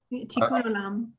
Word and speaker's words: Tikkun Olam: If you'll forgive me, if you could help me with the pronunciation of, is it Tikkun Olam? Tikkun Olam.